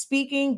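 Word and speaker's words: Spinking: honestly speaking just like our product line it's pronounced speaking but it's spelled speaking or me was like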